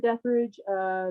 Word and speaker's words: Detherage: So it's Deathridge Music on Facebook.